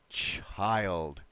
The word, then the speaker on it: child: wonderful Miguel nicely read but remember in the word child we will use a long eye so it's chai child one more time poor